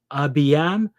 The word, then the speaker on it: Abijam: Abiyam they'll spell it Abijam.